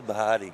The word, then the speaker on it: Bahdi: It's Bahdi. That's how you say it, Bahdi. That ain't Bahdi. That is Bahdi. That's Bahdi. It's Lucas Bahdi.